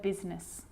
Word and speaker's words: business: r rhythm or rhyme good news that I is not usually silent it's usually pronounced except in the word business okay okay now I